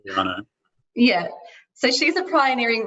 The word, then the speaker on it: Gagliano: Is that how you pronounce her name? Gagliano.